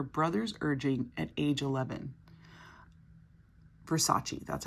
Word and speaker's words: Versace: blonde at her brother's urging at age 11 Versace that's how you say it sorry friends I